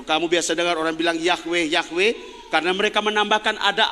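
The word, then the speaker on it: Yahweh: kalau orang bacanya Ya yahwe kenapa disebut yahwe ditambah konsonan karena itu ditambah vokal huruf vokal karena semuanya huruf mati yhwh tidak bisa disebut mau Sebut apa coba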